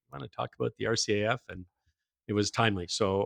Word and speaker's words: RCAF: days through through today so rcaf is the only way it's ever ever pronounced all right that was